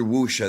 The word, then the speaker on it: wuxia: Now, Hoodie says I never heard wuxia. That's a very gram spelling of it, bro. Wuxia is spelled w u x i a.